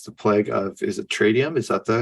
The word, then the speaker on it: Tradium: the series is the plague of, is it Tradium? Is that how you pronounce that? Tradium. Yep. Tradium.